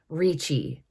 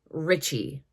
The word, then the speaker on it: Ricci: Italians spell that surname they just pronounce it reachi whereas like I said I believe that it is actually Richie okay now that I